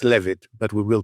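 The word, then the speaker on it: Leavitt: We all know it's pronounced Levit. Yeah, but it doesn't work as a pun that way, does it? Exactly. So the jokes have to work. So yes, it's Levit, but we will pronounce it leave it quite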